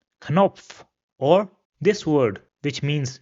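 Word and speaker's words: Knopf: Rather in German the ca or k is pronounced separately. So for example this word over here which means button will be pronounced as kop. Kop or this word which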